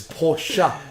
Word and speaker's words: Porsche: It's Porsche. No, it doesn't exist. There's no extra fucking syllable.